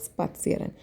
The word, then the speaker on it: spazieren: For walking, it should be pronounced like spazieren.